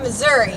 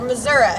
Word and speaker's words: Missouri: here with you I I hail from Missour or Missouri depending on on um how you want to pronounce it or where you're from and it is a